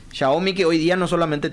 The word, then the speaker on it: Xiaomi: Entonces, eso en el área telefónico, Xiaomi, la gente dice Xiaomi, no, Xiaomi. Xiaomi que hoy día no solamente tiene, tanto Huawei como Xiaomi no solamente están en el tema de teléfono.